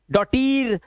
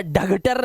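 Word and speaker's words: daughter: डॉटर या डगटर नहीं पढ़ेंगे इसको।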